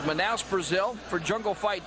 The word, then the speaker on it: Manaus: As you look at the sold-out arena here, Manaus, actually pronounced Manaus, Brazil, for Jungle Fight 2.